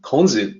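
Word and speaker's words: 孔子: not know so kons konzi is confucius so the way to say his name is a little bit different in mandarin sometimes kong foods those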